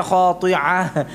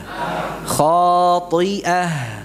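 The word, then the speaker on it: خَاطِئَةٍ: Kemudian ini hamzah ya, bukan ain ya. Sebagian bacanya khati'ah. Enggak. Ya, hamzah. khati'ah.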